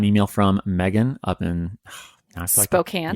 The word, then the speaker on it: Spokane: from megan up in spokane yeah spoken in washington but yeah spoken spokane washington yeah nothing like correcting pronunciation